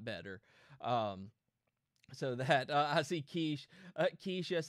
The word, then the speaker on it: quiche: So that I see Quiche. Quiche, yes, it's Quiche. It's not a quitch.